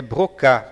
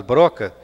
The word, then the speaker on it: Broca: Essa palavra, esse esse nome pronunciado em francês é brocá, porque se nós falarmos broca fica uma pronúncia muito estranha.